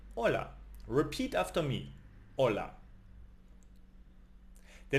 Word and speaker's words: hola: When you see hola, you don't say the H. You say hola.